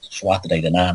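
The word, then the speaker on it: Tuatha Dé Danann: You hear people like Michael Tsarian talking about them, pronounce the name wrong, because Trua de Danann.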